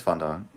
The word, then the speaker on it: fondant: segment the Hilda Beast I think that's fondant you generally pronounce it because I think it is like an actual English word you don't just pronounce I like the French way you know did I